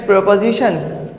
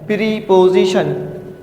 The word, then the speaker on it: preposition: Students, प्रीपोजिशन school में हम पढ़ते हैं प्रीपोजिशन। प्रीपोजिशन समझाने के लिए सही है, लेकिन इसका जो सही प्रोनाउंसिएशन है, इसकी जो कन्वर्जेशन है, वो है प्रपोजिशन।